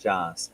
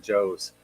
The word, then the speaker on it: JOS: I'm guessing JOS is pronounced Joss, as in Jocelyn. Yeah. Yeah. Okay. I was saying Joe's, as in Joseph.